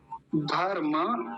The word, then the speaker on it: धर्म: लोग कैसे करते हैं पहली बात तो धर्म इस शब्द को धर्म बोलते हैं धर्म धर्म नहीं होता ये धर्म म को पूरा बोलेंगे अगर हलंत होता तो धर्म बोलते लेकिन अभी हलंत